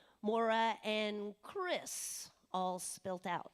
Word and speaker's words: Maire: little simpler and it's Maura and Chris all Spilled Out is that correct okay so and also I might mention it's spelled m-a-i-r-e not exactly the way we would pronounce it hear or spell it